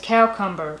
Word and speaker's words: cowcumber: This says, cowcumber, a pronunciation of cucumber dating back to early English and still common among the hill folk.